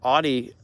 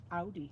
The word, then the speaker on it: Audi: trends you know like with um oh who audi or how do you say it kelly audi audi uh sorry we watched a video on